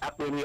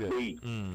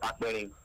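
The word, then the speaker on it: Akpeyi: You know, I keep saying it is pronounced Akperi. I guess we all confirm that. Yes. Not Akperi. It's an Ishekiri name. It's pronounced Akperi.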